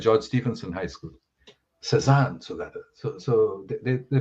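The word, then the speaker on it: Cézanne: in a school called george stevenson high school cezanne so that so so they pronounced it susan so i had to say no it's not susan oh he used light and shade to produce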